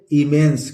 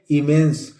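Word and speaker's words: immense: देख लेते हैं दोस्तों I double M ई एन सीई इसको पढ़ेंगे दोस्तों आई से ई हो गया और म से डबल में से एक साइलेंट है आधा न और स क्या पढ़ेंगे इमेंस क्या पढ़ेंगे इमेंस इसी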